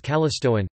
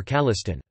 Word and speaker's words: Callistoan: In scientific writing, the adjectival form of the name is Callistoan, pronounced, or Calliston.